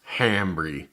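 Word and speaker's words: hambre: that's very hungry Greg the H is silent rope come on Hamry come on man all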